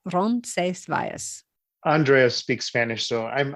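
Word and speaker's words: Roncesvalles: say ronas spell um the Spanish pronunciation is is rones vas rones vas yeah they say it much faster but to break it down Ron Vias Andrea speaks Spanish so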